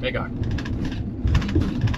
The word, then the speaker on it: Magog: Magog? Magog. Magog. The guy at the border said we were saying it right, so we'll just go with that.